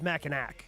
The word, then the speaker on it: Mackinac: I could not recommend going to Mackinac Island enough. No cars on the island. The island, I believe, is Mackinac. No, I think so the city, there's a C on the end.